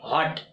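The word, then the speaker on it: what: शुरू हो, है ना, यदि कोई सेंटेंस W से शुरू हो और W के तुरंत बाद जो है क्या रहता है, H रहता है, तो W वहां पे क्या हो जाता है, साइलेंट हो जाता है ना। तो हम लोग इसको क्या बोलते हैं, इसीलिए हम लोग सुनते हैं तो हम लोग को अटपटा लगता है ना, व्हाट नहीं हॉट, है ना, वेयर नहीं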